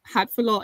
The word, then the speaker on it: Hatfiloh: Have you been for this entire, 22 years at Temple Beth Hatfiloh? Am I pronouncing that right?